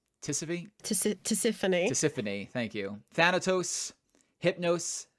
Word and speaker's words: Tisiphone: Tisiphone.